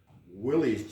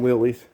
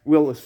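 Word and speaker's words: Willys: say it yeah yeah most people call them willies but yeah i heard rad somewhere is pronounced willis yeah he drives just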